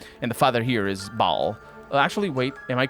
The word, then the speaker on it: Baal: Because Baal, actually, it's pronounced Baal in Diablo.